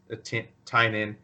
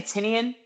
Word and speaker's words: Tynion: I'm not trying to be a dick or, hate on James Tynion or Tinian or however you say his name. I say Tinian.